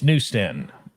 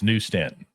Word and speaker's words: New Stanton: Anyway, it's New Stanton. When you go on a turnpike and you see the exit, it's New Stanton.